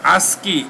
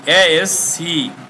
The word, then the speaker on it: ASCII: এএসসি, এটার উচ্চারণ হলো ASCII, ASCII double I, ASCII, এতে আমেরিকান স্ট্যান্ডার্ড, সিতে কোড, তারপরে information interchange, American standard code for interchange, American standard code for interchange.